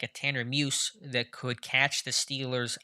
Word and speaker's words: Muse: wrote about tanner uh is it muse or music maybe it's just muse uh is the right pronunciation there so um what is